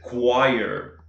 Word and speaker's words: choir: Uma delas seria a palavra coral, que no inglês é choir.